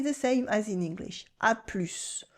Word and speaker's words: à plus: À plus. It's casual and we pronounce the final S.